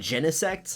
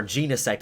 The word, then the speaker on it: Genesect: and its evolution and genesect or genus act I've heard people pronounce it both ways but other than those